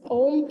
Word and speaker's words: Om: Okay, Omkar chanting is a very good practice because Om is basically A, U, and Ma.